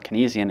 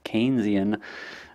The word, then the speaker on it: Keynesian: corrected me on that keep saying uh kesian it's Keynesian uh economic model um and